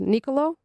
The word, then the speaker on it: Nicolo: Your name is pronounced Nicolo.